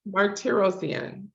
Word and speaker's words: Martirosyan: You just phonetically spelled. I know it's a long one. Martirosyan.